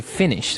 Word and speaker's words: Finnish: So that's the way that you say Finnish, with double N, right? That's right. It's not like I finished my homework. It's Right. like F-I-N-N-I-S-H, Finnish.